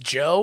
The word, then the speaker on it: Djo: If anyone has never heard of the band DJO, pronounced Joe, if you're a fan of Stranger Things, you may recognize the leader of the band.